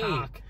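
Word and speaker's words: Koch: Cock. Boom. Yeah, that's how you pronounce it.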